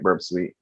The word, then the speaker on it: Burp Suite: What we're going to be using is Burp Suite or Burp Suite, which is No, you said it right, Burp Suite.